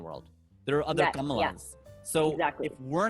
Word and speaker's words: Kamala: So someone like Kamala Harris, I just said her name wrong now. Kamala Harris.